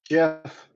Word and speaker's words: GIF: GIF with a soft G.